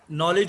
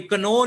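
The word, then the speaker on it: know: हाँ, नो में के साइलेंट होता है, ये कनो नहीं पढ़ना। नॉलेज है, कनॉलेज नहीं है। नाइफ है, कनाइफ नहीं है।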